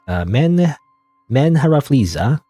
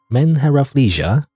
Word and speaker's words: MenheRafflesia: But anyway, but I guess that's it for the name of this game, which I always don't know how to pronounce. It's MenheRafflesia. MenheRafflesia.